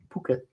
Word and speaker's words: Phuket: We are delaying hip replacement because of Bali and Phuket trip. Phuket. But you know that's not how Americans say it.